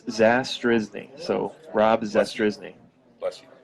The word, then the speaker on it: Zastryzny: It's Zastryzny.